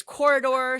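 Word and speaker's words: Quoridor: First up for me is Corridor, spelled with a Q because why not?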